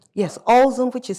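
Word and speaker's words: Ulzen: Ozen, which is spelled u l z e n.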